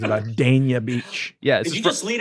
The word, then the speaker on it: Dania Beach: they pronounce it is dania beach she she says it dan like the name dash y a beach that's which is fort